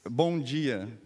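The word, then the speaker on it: bom dia: easy what's a what's a good morning it's Bonia Bonia Bon okay okay how about uh how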